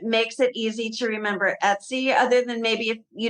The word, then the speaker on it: Etsy: There's nothing in our brain that makes it easy to remember Etsy, other than maybe if you know someone named Betsy. Maybe that's how they say it. It's like Betsy without the B.